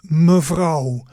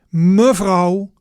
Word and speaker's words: mevrouw: So, the words we just seen in the conversation, the vocabulary summary and pronunciation. So, the first new word was mevrouw.